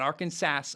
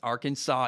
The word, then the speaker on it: Arkansas: m at number 16 arkansas not arkansas arkansas even though they spell